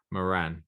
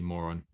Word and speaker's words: Moran: It was Eddie Moran, not Eddie Moron.